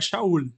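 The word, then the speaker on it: שאול: eh que na verdade lá em Israel é shaul né Tem uma pronúncia diferente é a mesma coisa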